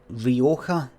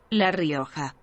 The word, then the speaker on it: Rioja: Here, how do you pronounce Rioja? Is it Rioja? Rioja? Rioja? Rioja? Rioja? Let's find it. Rio. Translate. Right, so this will go. Right, here we go. So it's La Rioja.